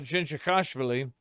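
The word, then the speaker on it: Dzindzichashvili: But the funny thing about Jinji Khashvili, which is the correct pronunciation of his name, by the way.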